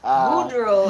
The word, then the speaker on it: Boudreaux: Boudreaux and Tip. You got me sounding like you. Say it like this. Boudreaux. Boudreaux. Boudreaux. Boudreaux. Boudreaux Boudreaux. and Thibodeau.